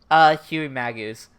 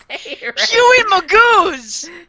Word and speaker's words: Huey Magoo's: Huey Magoo's. Huey Magus. Magoo's. Long A on the mag.